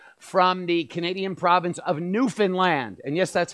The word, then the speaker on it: Newfoundland: learning so much from the Canadian province of Newfoundland and yes that's how you that's how you